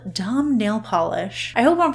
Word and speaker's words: Dam: to think it was damn nail polish but the pronunciation guide on the website says dahm is how you pronounce it so hopefully I am